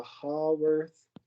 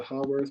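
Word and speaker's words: Haworth: so this is a hall worth sometimes people pronounce it hayworth projection but this is a how worth projection okay so if the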